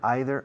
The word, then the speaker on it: either: either or either or both pronunciations either either are perfect they both signed up